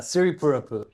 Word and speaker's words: Siripurapu: And then, how do you pronounce your last name? Uh, Siri Purupu. Siri.